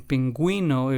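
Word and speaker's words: pingüino: us give that gu or gu sound in pronunciation in words in pinguino it would be the GU sound and then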